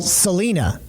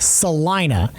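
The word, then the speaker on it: Celina: A which a lot of people would call Selena. I had a friend in in college spelled her name the same way. It was pronounced Selena. It's pronounced Salina.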